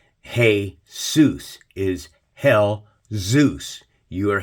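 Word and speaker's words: Jesús: worshiping what Jesus Jesus look at how Jesus is spelled and how it's pronounced here in English but how's it pronounced in Spanish it's pronounced Jesus heus is Hell Zeus you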